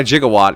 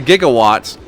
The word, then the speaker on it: gigawatt: 1.21 gigawatts? Yes. That's one of my favorite movie mispronunciations. Because it's not a gigawatt. It's not a gigawatt. It's a gigawatt.